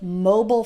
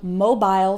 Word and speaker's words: mobile: That's also why you'll hear both mobile phone and mobile phone. Which is correct? They're both correct. It's just a slight pronunciation difference.